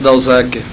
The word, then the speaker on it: Dauzaker: como é que pronuncia o sobrenome do senhor, Sr. Dalzacker.